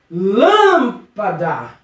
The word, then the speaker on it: Lâmpada: Agora vamos para a antepenúltima sílaba. Lâmpada. Percebeu que essa sílaba é forte, professor? Essa sílaba tem potência, essa sílaba é uma sílaba tônica, é uma sílaba forte, é uma sílaba que eu acredito que é para ser acentuada. É mesmo, professor? Isso mesmo. Lâmpada é uma palavra proparoxítona.